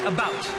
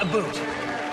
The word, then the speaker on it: about: French not American and I pronounce it about not a boot I can proudly sole